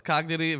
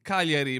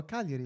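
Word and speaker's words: Cagliari: Kieri. Bro, the G silence. You said it. That's good. Is the G silent pretty much. Good job. That's how you say it, bro. Keri.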